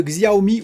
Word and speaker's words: Xiaomi: la scène on va parler de xi a omis ou xiaomi sur la prononciation que vous voulez employés pour ce fabricant